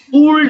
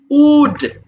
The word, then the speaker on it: would: ব্যবহার করতে হবে দেখ উড এটা কিন্তু উলড হবে না উচ্চারণটা হবে উড এইযে এইযে উড মানে